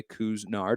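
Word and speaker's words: Couisnard: to talk a little bit more about jermaine kuznard that is how you pronounce his name by the way kuznard i apologize for not getting that right last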